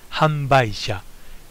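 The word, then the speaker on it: 販売者: producer is in Japan the second one is pronounced hamba it means vendor the information on the actual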